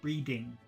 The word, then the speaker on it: breeding: and number two you you push the tongue up at the back of the teeth breing see you can't see my tongue breeding breeding that's number two but you you can